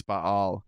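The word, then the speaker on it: Ba'al: I mean, that's actually what it is, because that's actually a thing, is Baal, is B-A-apostrophe-A-L. That's actually how you're supposed to pronounce it, but Bale's cool, too.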